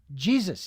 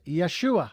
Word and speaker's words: Yeshua: And then, of course, the accurate pronunciation of of the carpenter 2,000 years ago was not Jesus. It was Yeshua Hamashiach. That was the the correct pronunciation.